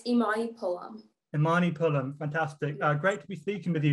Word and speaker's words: Imani Pullum: joined today by imani is it amani pullum is that how you say it properly yeah it's imani pullum imani pullum fantastic uh